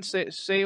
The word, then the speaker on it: Saoirse: I don't know how to pronounce her name. It's like Saoirse Ronan or something. Saoirse.